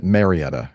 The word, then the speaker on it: Marietta: I I just I you know I like to know how the locals pronounce things. So I want to make sure I'm not not screwing it up. No, I uh Marietta is correct.